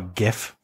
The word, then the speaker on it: GIF: I just saw a gif yes GIF hard G peanut butter proved it um